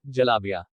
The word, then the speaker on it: जलेबी: का असली नाम है जलाबिया। उत्तर पश्चिमी भारत और पाकिस्तान में जहां इसे जलेबी कहा जाता है, वहीं महाराष्ट्र में इसे जिलबी कहा जाता है और बंगाल में इसका उच्चारण जिलपी करते हैं।